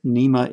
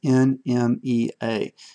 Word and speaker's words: NMEA: And I pronounce it NMEA, it's NMEA.